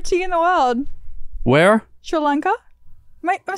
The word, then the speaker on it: Sri Lanka: Sri Lanka.